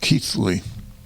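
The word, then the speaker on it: Keighly: ke i g h l y but it's pronounced keithly the forge Village Lions will play the pcket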